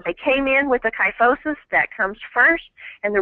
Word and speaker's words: kyphosis: person has a kyos how do you say that uh kyphosis kyphosis okay I was gonna say